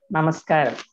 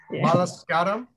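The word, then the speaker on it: നമസ്കാരം: How do you say hello? Namaskaram. Namaskaram. Yeah. Malaskaram? Namaskaram. Oh, namaskaram. Yeah.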